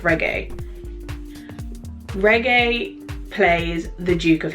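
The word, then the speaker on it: Regé-Jean: First of all, my guy Reggae, I think it's pronounced Reggae.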